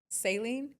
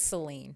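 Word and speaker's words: Céline: Saline. Saleine. It's Seline. She doesn't know how to say the name.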